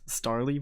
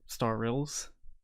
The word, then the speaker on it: Starylz: the time I actually thought her name was star Lee by the way but mispronounces really this is nothing new uh it's actually star star rills starless well I wanted to put emphasis on